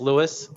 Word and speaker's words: Lewis: I'm not sure if your name is pronounced Louis or Lewis, but either way, you have your hand raised. Can you hear me now? Yes. Okay, sorry, I wasn't. All right, so yeah, it's Lewis from Good Harbor Cannabis Insurance.